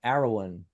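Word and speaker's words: Arawn: uh it's called arrow aroan aroan is how you say the name uh it's actually from Welsh mythology and and the the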